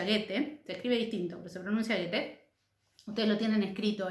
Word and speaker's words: Goethe: tiene un autor alemán que el nombre se pronuncia goethe usted lo tienen escrito y en el powerpoint